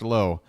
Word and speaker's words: Lowe: gonna get it confused it is Josh low you got Brandon LA and Josh low in this lineup last name spelled the same pronounced different Josh low at the plate